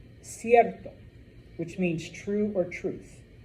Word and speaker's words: cierto: If you have the letter C before an E or an I, it is pronounced what we call a soft C, or S.